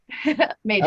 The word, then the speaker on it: Mages: It rhymes with pages. Mages.